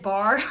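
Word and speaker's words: barre: so i thought that barr was gonna be like i don't know if any of you guys have done bar b-a-r-r-e that's how you spell it but it's like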